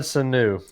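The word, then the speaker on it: Sanu: you say his last name muhammad sulu muhammad sunu yep he was with us he has been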